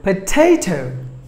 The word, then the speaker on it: potato: onion we're number seven potato potato potato but the stress falls on the middle syllable potato potato and were number